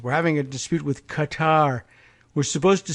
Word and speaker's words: Qatar: having a dispute with Qatar we're supposed to say Qatar Trump said mocking the pronunciation of the country's name by varying the syllabic emphasis it's Qatar they prefer